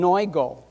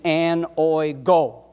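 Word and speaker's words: ἀνοίγω: The Greek word for open is oinō. That's how it's pronounced. It's on the bottom of your screen there in Greek. The English pronunciation, anoigo.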